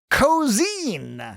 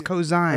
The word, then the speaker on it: Ko'Zeine: Titled Cozine. Nothing I've done will ever matter as much as this. Cozine sounds very closely similar to cosine. Yeah. Because they say cosine, actually. I think it's cosine.